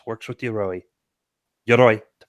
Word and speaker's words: Yoroi: Yoroi, to pronounce it correctly.